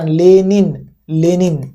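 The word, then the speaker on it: Lenin: लेनिन, याद रखना लेनिन, ठीक है, लेनिन। इसको अगर आप लेनिन करते जाओगे तो उच्चारण आपका नहीं होगा, ठीक है।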